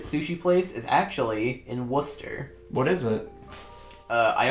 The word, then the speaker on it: Worcester: pronounced it on Google. It is Worcester.